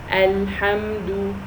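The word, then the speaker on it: الحمد: Okay, so here al-ha, I shouldn't say. If I said alhamdu, so that means there is an alif mad after the ha, and there is no, so it should only be ha. Alhamdu.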